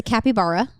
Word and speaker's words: capybara: So it's a capybara. The cutest. Cutie Not pie. certain on the pronunciation, but going with that.